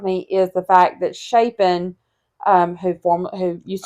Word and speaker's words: Shapen: Like it sounds like Champagne, but you don't put the M in it.